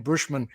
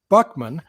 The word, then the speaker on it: Buchman: thank you uh you're using the French pronunciation of my last name Bushman my my dad pronounced it Buckman but my grandparent parents were Bookman so I'll go with all three but but once I